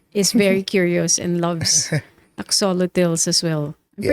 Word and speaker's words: axolotl: the books that She has written Yeah, those axolotl. two. My daughter is very curious and loves axolotls as well. I'm Yeah.